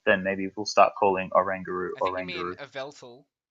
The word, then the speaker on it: Oranguru: Alright, I'm pretty sure it's pronounced Oranguru because it's an orangutan.